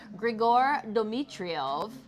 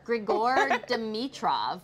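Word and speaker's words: Grigor Dimitrov: her tennis pro boyfriend Gregor drio I say it right I sure Gregor dmitrov that's it demitro right G Gregor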